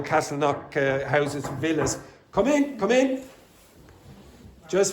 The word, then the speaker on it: Castleknock: In English, you don't pronounce the K. So you would say, for example, knock. Okay? So you would say Castle Knock.